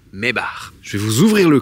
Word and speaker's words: Maybach: badge mes bar alors si vous savez pas comment ça se prononce c'est pas mes bâes c'est pas mes bac c'est mes bares je vais vous ouvrir